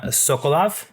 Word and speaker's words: Sokolov: And my other guest is Maxime Sokolov.